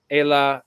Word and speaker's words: Ayla: I wish I wish Ayla yes my name it rhymes with names like Kayla or Ava okay yes thank you